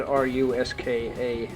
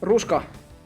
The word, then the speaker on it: ruska: It's spelled R-U-S-K-A, and it's a Finnish word for autumn foliage, or just autumn in ancient Finnish.